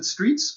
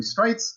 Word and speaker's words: Streitz: Most people pronounce it Streitz, but it's really Streitz. That's just one of those interesting German foibles of the language.